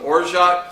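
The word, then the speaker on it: orgeat: we need is some orot syrup o r g a t but the French pronounce it or it's a almond citrusy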